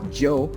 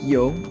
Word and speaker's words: yo: So also, guys, some Spanish speakers, they may tend to use it or to pronounce it as Joe, but it's not, it's just yo. And for some English speakers, you guys may say yo, but it's not, it's just yo, all right, in Creole.